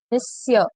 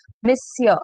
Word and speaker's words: monsieur: Monsieur, the word is written, the spelling is completely different and the way it is pronounced is completely different. Monsieur, it is not monsieur, it is monsieur.